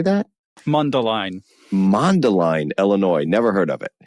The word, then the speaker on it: Mundelein: Mundelein, Illinois.